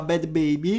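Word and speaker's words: Bhad Bhabie: Adesso invece troviamo Bad Baby, e comunque si pronuncia così perché ho cercato su internet, quindi si pronuncia Bad Baby.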